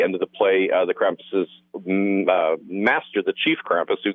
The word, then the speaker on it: Krampuses: Is it Krampuses, or could it be Krampi? People always want to say Krampi, as if that's for Latin, though. It's a German word.